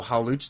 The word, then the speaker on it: Hawlucha: I forgot his how to pronounce his name. Oh, Hawlucha.